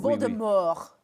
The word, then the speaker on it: Voldemort: said it so much, is pronounced a little differently. Almost true. le français. Je parle français, okay? True. Oui, oui. Voldemort. Yep. No T.